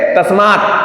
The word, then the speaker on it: तस्मै: तो इसका प्रोनाउंसिएशन जब करेंगे तो आई आना चाहिए लास्ट में। तस्मै, तस्मै, ध्यान रखना।